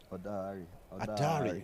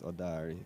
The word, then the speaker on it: Odari: Adari. Oh, that's how it's pronounced. Yeah. Adari. It's Adari here. I think it's Odari. Oh. It's Odari.